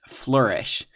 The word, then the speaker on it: flourish: correct pronunciation is flourish even though it's spelled like flower ish it's not it's pronounced flourish so for something to